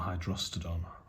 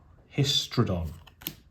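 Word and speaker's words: Hystrodon: Terror, Battlefield Scrounger, Mystic Zealot, Ember Beast, Symbiotic Beast, Hermetic Study, Duress, Savannah Lions, Macetail Hydrostodon, Histrodon, that's how it's pronounced, Mystic Enforcer, Thieving Magpie, Wax and Wane, Solfnar the Swamp King, Squirrel Nest, Island, and a Goblin.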